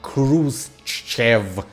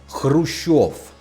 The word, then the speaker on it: Khrushchev: Now, his last name is not Khrushchev, it's Khrushchev. But since I am speaking English, when I talk about historical figures, I will defer to the English pronunciation, when it differs severely from the original.